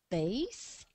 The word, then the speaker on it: bathe: Bathe, możemy się kąpać. Proszę zwrócić uwagę na dosyć trudną wymowę tego słowa.